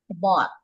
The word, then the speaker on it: bought: Okay, so we read this as bought, Much.